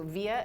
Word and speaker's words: Vija: hear from you so via at Ben Kenny calm vias and Victor I J so it's it's Vij but it's pronounced yeah just like via satellite Soviet Ben can you